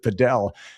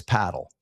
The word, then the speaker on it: padel: Is it paddle or is it Pedell?" And I said, I've got the official word. It's paddle.